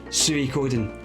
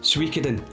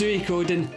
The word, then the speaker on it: Suikoden: a fantastic JRPG also by the name of Suikoden. And yes, that's how you pronounce it, none of this Suikoden. It's Suikoden in Final Fantasy VII.